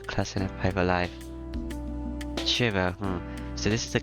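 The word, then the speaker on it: Shirou: Can you pronounce it properly? It's Shiro. Don't drop the U and pronounce it clearly.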